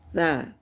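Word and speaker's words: ث: Kemudian huruf tsa ya. Tsa ya. Tsa itu ee di ujung lidah saja ya. Tsa ya. Jangan berubah menjadi sin ya.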